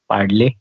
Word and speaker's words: Padle: If you can spare, pronounce that name of that village, it's called Padle.